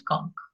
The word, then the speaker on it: conch: we have the introduction of the the calm pronunciation is conch this conch represents again something valuable something expensive